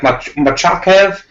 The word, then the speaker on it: Makhachev: I think there's an extra syllable in there. It's like Machakev.